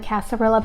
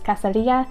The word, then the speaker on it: cascarilla: That sounds like super white girl of me, but it's, Elena said that it was pronounced, or you pronounce it as it would be pronounced in Spanish, which is cascarilla powder.